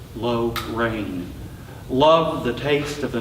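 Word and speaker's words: Llano: the night sky over low rain Accent on both syllables low rain loved the taste of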